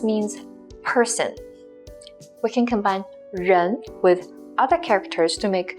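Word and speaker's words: 入: the right with the longer right curve is pronounced as ru it means to enter for example we can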